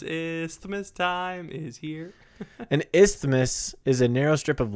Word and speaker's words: isthmus: hard word to say it's not really Isthmus oh you messed up no I said it right no you did not you said it's not it's not if's miss look it up i-s-t-h-m-u-s Isthmus you're saying is you're